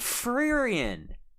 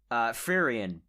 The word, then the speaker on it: Frieren: Oh, they did Frieren. Huh? Or Frieren, sorry. I don't know why I pronounced it like that.